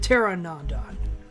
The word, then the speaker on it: Pteranodon: ancient type model Pteranodon I know you're not supposed to pronounce the T but I am very spiteful in my life I am spiteful towards the English language for putting a letter you're not supposed to pronounce so it's potere and on Patera no Don but Terran on Don Soderberg noticing that I'm